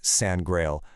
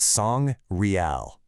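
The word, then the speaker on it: Sangreal: But what if we've been saying it wrong all this time? What if you break that word up differently? Not sandrail, but song real. Two words.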